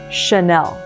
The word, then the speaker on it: Chanel: And over here, if anything in French has a CH, instead of pronouncing it in English like cha, for example, channel, we would pronounce it as a sh. So it's Chanel.